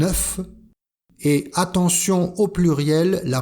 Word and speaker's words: œuf: Un œuf, comme le numéro 9, un œuf. Et attention au pluriel, la prononciation change. Des œufs.